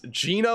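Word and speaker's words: Jena: Bro, why is it Gina? It looks like Jenna. It's Gina, Louisiana.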